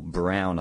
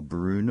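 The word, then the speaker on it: Broun: of the incumbent Paul Brown I think you pronounce that brown or Brun or something um he's a republican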